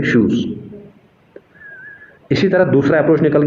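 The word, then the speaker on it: Schutz: Alfred shoes S सी एच यू टी जेड T silent है shoes.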